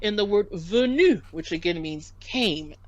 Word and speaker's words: venu: We have the same sound in the word venu, which again means came. So V-E-N-U, that E is E. So it's not venu or venu, it's venu. Can we say that? Venu. Venu. Très bien. Exactly. Venu.